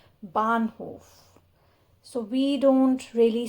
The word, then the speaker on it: Bahnhof: The new entry here is of H in the middle of a word. So the sound is almost silent. Bahnhof.